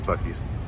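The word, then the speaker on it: Buc-ee's: these there it is i thought it was beauties at first because the way it spelled with one seat i was convinced it was beauties my wife had to convince me of the bookies place is huge i've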